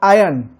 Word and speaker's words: aion: Called, different word called आयन, AION, आयन। उसको pronouncement ऐसे करते हैं, आयन, नॉट IRON, आयन, आयन। Okay, दूसरे रीति से बोलते हैं, ईयन बोलते हैं। Okay, Ian.